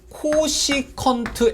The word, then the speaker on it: cosec: 자, 그 다음에 또 하나가 코시컨트 x라고 해서 이렇게 씁니다.